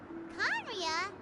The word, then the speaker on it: Khaenri'ah: Khaenri'ah. Ah, Conria? that's how you Really?